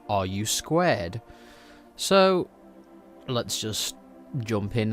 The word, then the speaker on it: RU²: pronounced r u squ as in the question are you squared so let's just jump